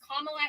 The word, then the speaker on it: Kamala: Her name is Kamla Harris.